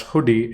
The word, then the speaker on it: Hudi: is Apache hoodi uh as you know Apache hoodi uh pronounced as hoodie is a Next Generation